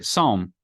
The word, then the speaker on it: psalm: He instructed the students to begin reciting the psalm. I still haven't figured out, is it psalm or psalm? I think the P is silent.